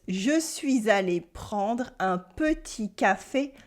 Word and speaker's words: petit: There are some silent letters here, of course, like the final T in petit for small and the final S in dans for in.